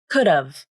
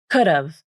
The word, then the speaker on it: could've: Then the A vowel in have is reduced to the schwa, This sounds like could've, could've, I could have gone with you. But then one more reduction can happen. The final V consonant in of can also be dropped.